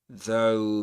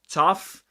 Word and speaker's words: though: It's not pronounced tough. It's though. O. Dip thong. O. O. Though.